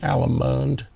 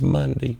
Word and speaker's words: Munde: all my life calling alimond and it's not it's monday it's pronounced like the day monday allen bobby everybody call